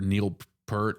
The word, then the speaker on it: Neil Peart: I was like, I'll just give him Peart because that's what everybody wants to. I didn't want to be pretentious by being the drum nerd that actually knows it's pronounced Neil Peart.